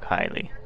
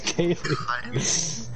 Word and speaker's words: Kaylee: Yeah, don't stop making fun of Kylie. It's Kaylee.